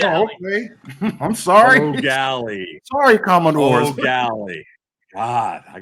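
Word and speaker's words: Eau Gallie: O'Galley, guys. It's O'Galley. Oh, okay. I'm sorry. O'Galley.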